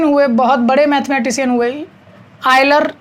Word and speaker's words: Euler: बहुत बड़े मैथमेटिशियन हुए, आयलर, कभी कभी यूलर, EULER उनके नेम की स्पेलिंग है। ठीक है, आप आयलर पढ़ लीजिए, यूलर पढ़ लीजिए, जैसे भी चाहें। आयलर वैसे सही प्रोनाउंसिएशन होता है।